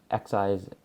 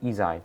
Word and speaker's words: Xi: I use one of Xi's, or Izai's, that's how you pronounce his name, Izai, not Xi.